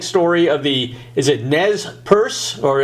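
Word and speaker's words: Nez Perce: the trans tragic story of the is it Nez purse or how do you pronounce that the Native Americans that's perfect that's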